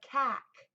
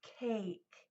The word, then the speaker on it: cake: and the word cake you do not hear that e it's silent so what that pattern does is that silent e at the end makes this vowel say its name a that's not the word kak its cake that's silent e that's cvce pattern makes the a say a so that's a long